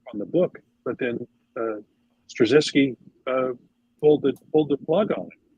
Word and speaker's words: Straczynski: Michael Straczynski, I think is how you pronounce his name.